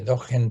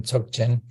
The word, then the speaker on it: Dzogchen: mm, Dzogchen, o depende quién lo pronuncie, Dogen, Dzogchen, ujú, pero fundamentalmente Dzogchen, o Mahamudra, dependiendo de la escuela mm, budista, Dzogchen o Mahamudra.